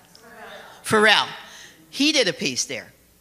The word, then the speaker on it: Pharrell: You know, I'm pronouncing his name incorrectly because I can't remember, but Pharaoh, and I'm so happy that, how do I pronounce it? Pharrell.